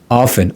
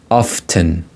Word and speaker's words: often: Often. Or some people may pronounce it like often. Both pronunciations are okay. Often, without pronouncing a T could be silent here, often, or you could